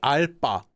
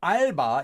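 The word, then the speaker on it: 알바: they say or shortened they say they don't say ala there actually is a Korean expression alpa but that's a different grammar form but albba is a part-time job and it is just read as it is spelled so with a lot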